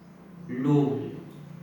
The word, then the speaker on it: loaves: इसका उच्चारण ये होता है लोव्स, ये बेटा होता है उच्चारण से लोव्स ऑफ ब्रेड।